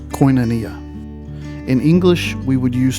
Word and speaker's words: koinonia: There's a word in the Greek language pronounced koinonia.